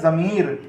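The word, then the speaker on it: ضمیر: ज़्वाद meme ये ज़मी और रे साकिन है आपका, तो पढ़ा गया ज़मीर।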